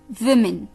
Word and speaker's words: women: तो इसकी प्रोनाउंसिएशन भी थोड़ी सी अलग है, women, women.